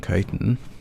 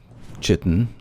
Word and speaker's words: chitin: This portion actually would be great for gathering chitin, or chitin, however you prefer to pronounce it.